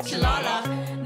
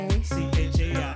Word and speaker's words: Chaila: The soul of my world, and it's not Chile, it's not Chilala. Not hard pills to swallow. Chile or Chilea. Chia. Chila. Dilla, that's not my name. Say my name. Chaila.